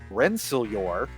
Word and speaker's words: Rensselaer: dr wayne gray and his cogworks team from rensselaer that's how it's pronounced that's how they told me came to